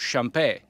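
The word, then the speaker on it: Champex: little Swiss town called Champais, with an X on the end we never pronounce.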